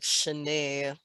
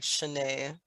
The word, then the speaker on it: Shine: but s-h-i-n is actually spelled like shine like s-h-i-n-e but pronounce more like like Shanae spelling spelled like Shine That's pronounce like Shanae cool all right let's